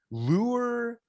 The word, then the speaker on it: Lueur: So I'll take a stab here, but do come and save me and throw me an arm floaty and pronounce it correctly. Lueur MD Aesthetics in Tenafly, New Jersey.